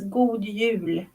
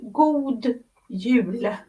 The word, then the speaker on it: God Jul: Okay, Then, but it's pronounced good, gold.